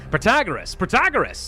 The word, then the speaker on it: Protagoras: Protagoras, that's the way you do it, so you can all stop yelling at me now.